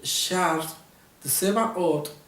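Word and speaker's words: שר צבאות: la siguiente expresión, que en el hebreo se pronuncia así: Ani Shar Tsebaot de Yahweh Elohim. Soy el príncipe de los ejércitos de la causa del Señor o del Señor. Está tomando un título especial. El Sar Tsebaot es un título que le pertenece solamente a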